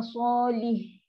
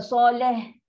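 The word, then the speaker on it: صالح: Salih. Bukan soleh.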